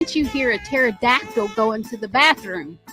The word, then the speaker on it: pterodactyl: you hear a pterodactyl going to the bathroom guess the p is silent Holly the Thunder radio